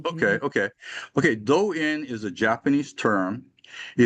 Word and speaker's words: Do-in: Do-in is a Japanese term.